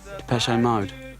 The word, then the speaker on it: Depeche Mode: Mode is just the word for fashion in French. Depeche-Mode. And we just decided we liked the sound of that name. And we chopped off the accent and we just kept the pronunciation.